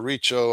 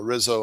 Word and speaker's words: Rizzo: uh I pronounce it Dr. Riccio, although uh Dr. Joseph prefers it pronounced uh Rizzo, R I Z Z O.